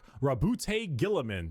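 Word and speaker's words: Roboute Guilliman: Primark Rabboute Gillamin.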